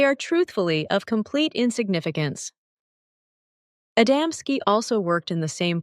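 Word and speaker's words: Adamski: well known to us but you mispronounce them the first is called adamsky the second genoves and the third molik these are not names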